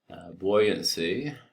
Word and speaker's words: buoyancy: Buoyancy, besides just being kind of sometimes something we really kind of misunderstand in some ways. First of all, it's spelled B-U-O-Y, which doesn't look right, buoyancy.